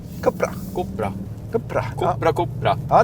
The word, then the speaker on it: Cupra: Du hade det rätta spanska uttalet. Cupra. Cupra.